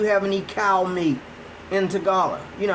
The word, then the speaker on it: Tagalog: It's spelled Tagalog, but it's pronounced Tagala, I think.